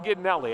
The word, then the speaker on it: Gidnelli: Not sure I'm saying that right. Brian Gidnelli, I believe, is the correct pronunciation there.